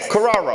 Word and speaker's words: Corrao: Corrao.